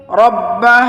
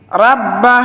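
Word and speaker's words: رَبَّ: ফালিয়াবুদু রব্বা হাযাল বাইত, রাব্বা হাযাল বাইত হবে না, বলতে হবে রব্বা, রাব্বা হবে না, রব্বা হবে, রব্বা হাযাল বাইত।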